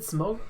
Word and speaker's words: Smogon: It's Smogon Devo. Is it Smogon? Oh, it is. I'm There is an pretty N. sure yeah. Okay, It's Smogon. I thought it was It's Smogon Devo.